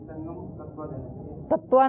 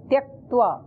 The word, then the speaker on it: त्यक्त्वा: योगस्थ कुरु कर्माणि तत्वा नहीं, त्यक्त्वा।